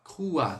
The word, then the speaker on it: crois: Então, quando a gente trabalhar esse je crois, sonzinho de UA. Je crois, crois, tá? E o S sempre muet. On va pas prononcer. Então, a gente não vai pronunciar o S.